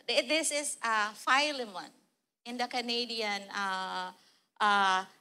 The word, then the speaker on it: Philemon: But this is not the Philimon this is uh filemon in the Canadian uh pronunciation. It's Philemon.